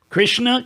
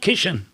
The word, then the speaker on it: Krishna: So Ekankar, Punjab, there's a lot of mispronunciation of Sanskrit words. Prakash, Parkash. Krishna, Kishan. Kishan.